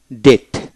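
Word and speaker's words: debt: প্রতিটা শব্দ ডিই বিটি ডেট ডেট এখানে বি উচ্চারিত হবে না ডি ও ইউ বিটি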